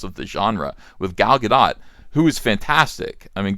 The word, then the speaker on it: Gadot: Well, I think he probably thinks that Gadot is pronounced Godot, and I did too. Gal Gadot, but it's Gadot.